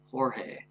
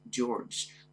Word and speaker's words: George: up uh George 052 pronouncing his name as horge uh George tries to tell the instructor that his name is pronounced George but the instructor hits